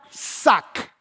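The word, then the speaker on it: שק: Resulta que silicio viene de una palabra hebrea que se pronuncia sac.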